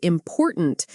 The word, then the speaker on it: important: For example, in the word important, we stress the second syllable. Import, tunt.